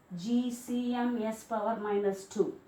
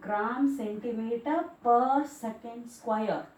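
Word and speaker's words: g·cm·s⁻²: Don't pronounce it as GCMS power minus 2. That is not the way to pronounce it. 1 gram centimeter per second square.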